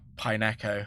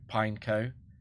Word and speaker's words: Pineco: didn't watch the anime I didn't know that it was pineco that makes sense to me that it's pineco but um I thought pineo was just a madeup word so I was like oh it's two syllables and it's either pineco